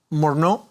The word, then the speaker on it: Morno: your surname wrongly uh is it Mr morno it is yes thank you um I